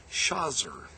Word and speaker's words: Shajir: name is intriguing because the combination of shajger s a jer is quite common in Palestinian place names. It is a collective meaning trees and many Arabs, especially in Egypt, pronounce it shazer."